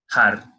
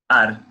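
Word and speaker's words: הר: Então, por exemplo, eu posso dizer a palavra montanha em hebraico é har, har. Mas eu também posso dizer ar, sem esse som de no começo.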